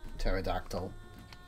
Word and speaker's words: pterodactyl: I know you don't pronounce the T in pterodactyl.